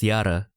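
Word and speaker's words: Jahre: For example, the word for year is yara, which is spelled with J-A-H-R-E. But you do notice that it is spelled with the J in front, but like read with Y in front.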